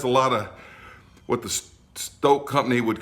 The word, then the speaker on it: STŌK: line over the oh that means pronounce the O long like Stoke as rhymes with smoke we don't usually use